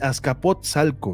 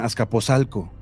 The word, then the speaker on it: Azcapotzalco: Saludos desde ascapotzalco ascapotzalco Cómo se pronuncia bien así Azcapotzalco verdad Azcapotzalco Es que yo he escuchado mucho que dicen ascaposalco la mayoría dice ascapozalco pero es ascapozalco Cómo puedo hacerme millonario